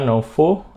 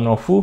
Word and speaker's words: Novoo: Ini adalah Novo atau Novu bacanya, Novo 5 port hub.